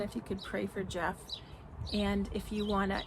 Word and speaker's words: Geoff: And then he has um Jeff Straight Talking and it's spelled G E O FF Explore with Jeff. and he has not been posting lately for months now.